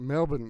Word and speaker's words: Melbourne: that's the only thing Melbourne you guys call it Melbourne Melbourne like that you don't pronounce the r like we do like Melbourne most Americans would probably say Melbourne Brisbane right well you